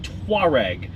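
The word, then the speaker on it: Touareg: have a Volkswagen the Volkswagen tware which looks like teg but it's actually not that I think that's the one that's named after some African tribe and uh it's the tware that goes on the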